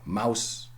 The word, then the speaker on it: mouse: There was never an E, never pronounced. Same true for mouse, okay?